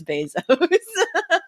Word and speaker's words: Bezos: I know it's Bezos. Well, actually, I pronounce it, I think, differently every time.